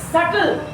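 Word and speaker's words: subtle: एस यू बी एस यू बी टी एल ई टी एल ई B silent हो रहा है इसमें। सल ठीक है।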